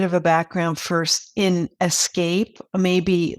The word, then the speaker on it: Aescape: And I'm going to talk to the company at the forefront which is Escape. Many of you have probably seen that. It's spelled AE S C A P E.